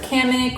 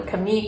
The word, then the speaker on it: Kamik: These are Kamik or Kamik, I've heard it pronounced both ways.